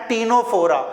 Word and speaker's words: ctenophora: PCC means Porifera, Coelenterata and टीनोफोरा. टीनोफोरा की spelling C से start होती है, लेकिन इसे हम लोग प्रोनाउंसिएशन टी से ही करते हैं, टीनोफोरा, क्योंकि सी साइलेंट है यहाँ पे.